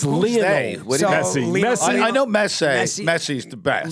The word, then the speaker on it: Messi: Messi. I know Messi's the best. Lionel right? Messi. Not Messier.